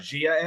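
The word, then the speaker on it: Gaia: I think it's pronounced Zaya, but okay. Zaya, Zaya, Gia.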